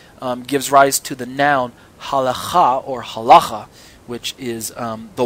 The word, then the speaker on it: halacha: by people like myself, as halacha, or some people say halaha, people who choose not to pronounce the gutturals as accurately as they should be pronounced. Halacha or halecha, depending on where you want to stress the syllable there.